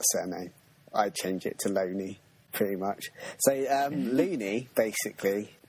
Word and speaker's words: Looney: And the guy's name that put this forward was J.T. Loney, but it's spelt loony, which kind of makes me laugh. So basically, it's J.T. Looney, but he didn't want to be called Looney.